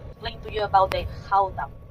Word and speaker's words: Gouda: Entonces explicaba el queso Gouda, que no se dice Gouda o Gouda, es Gouda. Si duele la garganta, es ahí, está bien dicho.